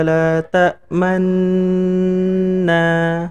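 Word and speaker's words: تأمنا: itu katanya gini, malaka la ta'manna, bacanya harus gitu. Nah, karena dia mencuci di tengah-tengah tenggung. Sebenarnya bunyi kalimatnya adalah la ta'manuna, tapi nunya diisyaratkan dengan cukup mencucu, isyarat dummah aja.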